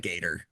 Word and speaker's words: Repligator: Is it yeah, spelled like a replicator, but instead of a yeah, C, but it's a G? Repligator.